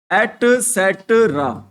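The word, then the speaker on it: et cetera: इसका क्या बोलते हैं इसकी करेक्ट प्रोनंसिएशन होगी वो क्या होगी भाई इसको बोलते हैं भाई क्या बोलते हैं मैं स्पेलिंग बता देता हूं इसकी क्या होती है एट सेट्रा क्या स्पेलिंग होती है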